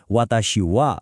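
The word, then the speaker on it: 私は: अब एउटा एकदमै रोचक कुरा लेख्दा खेरि हिरागानाको ह अक्षर लेखिन्छ तर जब यो वाक्यमा विषय जनाउन आउछ यसको उच्चारण वा हुन्छ। त्यसैले वाताशि भनेर पढ्ने होइन वाताशिवा भनेर बोल्ने।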